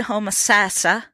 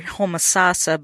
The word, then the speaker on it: Homosassa: We made a stop back to our beloved Homosassa. I keep saying in this interview you hear Homosassa, but the locals say Homosassa.